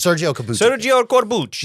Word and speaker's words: Sergio Corbucci: Sergio Corbucci.